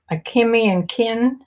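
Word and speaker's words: Akemi + Kin: Here's another Anthropologie brand, a Kimmy Akimi and Kin. Yeah, that's how you pronounce it.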